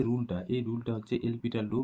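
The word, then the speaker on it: L'Hôpital: এই যে রুলটা, এই রুলটা হচ্ছে এলপিটাল রুল বা এল হসপিটাল রুল, এলপিটাল রুল বা এল হসপিটাল রুল, হ্যাঁ। তো উচ্চারণটা এলপিটার হয়, কিন্তু দেখো লেখার সুবিধার্থে এল হসপিটাল তুমি উচ্চারণ করতে পারো।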